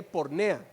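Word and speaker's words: πορνεία: Se escribe porneia y se lee pornea.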